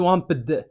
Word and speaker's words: swamped: واخا تشوف الاي دي هنايا ما تنطقش swamped.